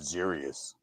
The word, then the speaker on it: Xerxes: I pronounce it Xerius. That's cool though. Xerxes works. Yeah, it's Xerxes for me now.